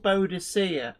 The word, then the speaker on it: Boadicea: And there's a bit of like when I was a kid at school, she was called Boadicea, and then Yes. they changed the pronunciation.